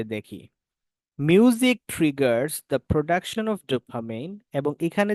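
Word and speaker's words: dopamine: music ট্রিগারস production of ডুপামিন বা ডুপামাইন এটা exact উচ্চারণ আমার মাথায় আসতেছে না আমি জানিনা এটা থাকুক ডুপামাইন ধরে নিন উচ্চারণ এটাকে ডোপামিন বলে ডোপামিন ওকে ঠিক আছে তাহলে এটা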